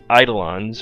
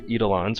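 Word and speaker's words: Eidolon: her to summon her eidelons or edelen's which other pronunciation you'd like to go with I'll go with eidelons if I remember to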